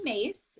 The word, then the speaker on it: Myss: yes so uh carolyn mace uh anybody who's familiar with her work her last name spelled myss but pronounced mace and she's her workout